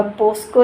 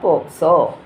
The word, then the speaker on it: പോക്സോ: വിമ്മിട്ടപ്പെട്ടാലോ അരുണേട്ടാ ആദ്യം തന്നെ ഉച്ചാരണം എന്താണെന്ന് പഠിക്കുക അതായത് കേസിന്റെ കാര്യം പറയുമ്പോൾ പോസ്കോ എന്നാണ് പറയുന്നത് പോസ്കോ അല്ല പോക്സോ പ പ്രാവശ്യം പോക്സോ എന്ന് നീ